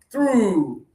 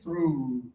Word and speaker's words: through: Everybody, close your lips mostly like you're going to kiss.